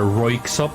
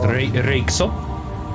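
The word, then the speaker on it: Röyksopp: if you know about the Norwegian group uh Roop you would probably call it but it's pronounced reop just a the the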